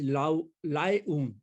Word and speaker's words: Laayoune: सहारा, पश्चिम सहारा इज लाएऊन। इसको याद करें, लाएऊन, ऊन लेके आए। इसकी स्पेलिंग थोड़ी सी मुश्किल है, LAAYOUNE, लाएऊन। तो एल्जियस, ट्यूनिस, ट्रिपोली, कैरो, खार्तूम, लाएऊन।